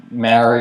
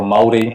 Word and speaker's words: Māori: So, Maori or Māori, if I'm to say it correctly, they are our indigenous culture here in New Zealand.